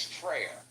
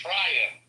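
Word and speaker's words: frayer: I would pronounce that as Freyer. But it's pronounced Fryer with that guttural R at the end.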